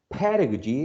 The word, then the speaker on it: pedagogy: um the word pedagogy pedagogy is stressed on the first syllable i am studying english pedagogy